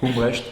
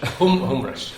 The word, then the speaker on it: Humbrecht: I pronounced it correctly? It's almost good, yes. Almost good, okay. Humbrecht. Humbrecht, okay, there you go.